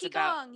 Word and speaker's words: Qigong: You were talking about the thing that I forgot how to pronounce. It's Qigong, yes.